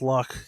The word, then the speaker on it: Loch: But for now, let's get ourselves over to Loach Moden. Lo Modan. I keep saying loach. I don't know why it's lock because it's Scottish, but it's just spelled like loach.